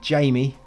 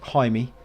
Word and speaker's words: Jaime: When I first saw his name, I wanted to call him Jamie, and it took me a moment to get used to Jaime. Because yeah, just looks like Jamie to me, but you have to pronounce it Jaime.